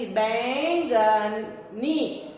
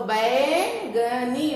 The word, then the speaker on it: बैंगनी: बैंगनी, बैंगनी। इसका उच्चारण कैसे करेंगे? क्योंकि हम ऐसे एन की मात्रा का उच्चारण कैसे करते हैं? आए, तो बैंगनी, बैंगनी।